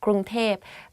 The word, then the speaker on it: กรุงเทพ: กรุงเทพมหานคร Bangkok กรุงเทพมหานคร If you go to Thailand and you hear people talk about Bangkok, they will say กรุงเทพ because like conversation wise it's easier to pronounce like that กรุงเทพ but a longer name